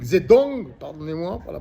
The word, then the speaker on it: Zedong: été à son époque, comme Siderta, comme Mao Zedung, Zedong, pardonnez-moi pour la prononciation, comme Trump, comme les philosophes, les historiens,